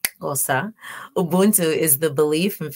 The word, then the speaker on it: Xhosa: In Xhosa, and I said it right, Xhosa, Ubuntu is the belief and philosophical perspective of our universal bond as human beings.